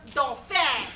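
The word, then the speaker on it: Dauphin: the dolphin oh my god no no it's pronounced don't fad it's french don't fair it's french i know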